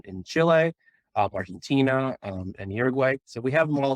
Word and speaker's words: Uruguay: mother is from Uruguay about Uruguay I'm told to pronounce it but Uruguay is how many Americans would read it um and I met